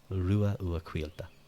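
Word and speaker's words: Ruadh Ua Cailte: And then don't worry about why the C makes a Q sound. It just does. Just go with it. Quilta. Rua Ua Quilta.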